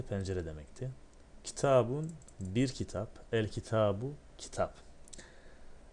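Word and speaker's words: الكتاب: El kitabu kitap. El kitabu olduğunda okunuşunda yazılışında bir değişiklik yine olmayacaktır. El ki tabu. El ki tabu. Lam okundu. Peşine gelen kef ise şeddetsiz okundu.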